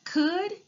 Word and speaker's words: could: The next word, could, gave me a bit of drama because it has that silent L. And it has the vowel team OU, which make the UH sound.